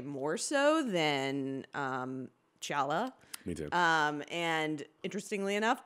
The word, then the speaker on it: T'Challa: T'Challa. Right? T'Challa.